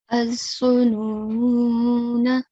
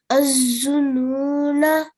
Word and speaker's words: الظنون: أعوذ بالله من الشيطان الرجيم بسم الله الرحمن الرحيم الظنون. الظنون. Very good. Remember to prolong the noon for 2 seconds.